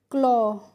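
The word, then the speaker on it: claw: तो यह भी रूल आपको ध्यान रखना है कि ए डब्ल्यू जब एक साथ आते हैं तो वहां पे ए डब्ल्यू को प्रोनाउंसिएशन हम करते हैं ओ की साउंड से।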